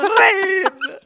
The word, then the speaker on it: Rain: Rain Dibacanya jangan Rian dong. Rain.